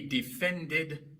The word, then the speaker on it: defended: El verbo es defend, termina en d y por eso al agregar e d en tiempo pasado se pronuncia tanto la e como la d.